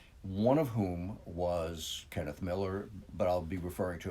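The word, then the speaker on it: Millar: as kenneth miller uh who he actually pronounced it miller but margaret maggie his wife pronounced it milar which tells you a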